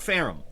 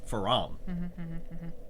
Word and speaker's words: Faram: Not not Pham. Faram because there's two A's. You pronounce that ah not ah.